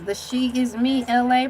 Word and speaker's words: Elay: The she is me, LA, pronounced like LA, like the city.